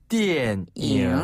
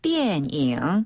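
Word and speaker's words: 电影: 자, 영화를 중국어로는 띠엔잉이라고 해요. 띠엔잉. 한번 더. 띠엔잉. 띠엔잉. 네, 여기서 띠엔은 전기를 뜻하는 전자를 중국식으로 발음하자면 띠엔이라고 하고요.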